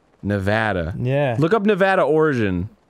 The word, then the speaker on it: Nevada: Um, the name Nevada comes from the Spanish Sierra Nevada, which is also a mountain range in Spain, meaning snow covered mountain range.